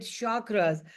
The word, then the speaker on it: chakra: Sometimes people call it chakras. Then you have people who call it chakra, and that would be more Hindi or Urdu, but you can pronounce it the way you want.